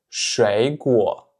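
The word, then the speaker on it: 水果: Donc en fait ici, vous pouvez remarquer que la paire 3-3, elle se prononce toujours comme la paire 2-3, puisque si vous vous souvenez, quand on a 2 fois le troisième ton, le premier va se prononcer comme un deuxième ton et seulement le deuxième comme un vrai troisième ton.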